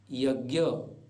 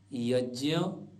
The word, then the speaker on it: यज्ञ: गया ज जैसे आज्य सामान्यतः लोग बोलते हैं आज्ञा यज्ञ ज्ञान जबक ठीक ठीक उच्चारण होगा आज्ञ यज्ञ ज्ञान विज्ञान ऐसे ही अन्य उदाहरण